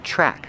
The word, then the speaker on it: track: on the track pronunciation track the TR makes a chicken sound with the r together track use the short ah sound like apple and black cat track they're walking on